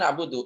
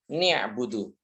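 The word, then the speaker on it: نعبد: Jadi orang misalnya membaca na'budu harusnya na'budu iyaka na'budu kemudian ya dibaca kasrah. Dibaca kasrah nunnya menjadi nibudu. Nia'budu harusnya na'budu kemudian dibaca nibudu.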